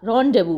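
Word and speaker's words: rendezvous: रोंडेव भी बोलते हैं। रैंडव है ना? तो ये जो पीछे वाला ये सब साइलेंट रहता है। एस साइलेंट रहता है खासकर इसमें। तो इसीलिए तो ये अगर हम एस को प्रोनाउंस करेंगे तो यहां व के साथ रम नहीं करेगा ना। तो रोंडेवू और यह व यह आपस में राइम कर रहे हैं।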